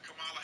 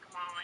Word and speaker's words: Kamala: we can talk about Kamala Harris's Google ads, like literally taking headlines from mainstream media and rewriting them. It's She's like not giving First speeches. of all, it's not Kamala. It's Kamala.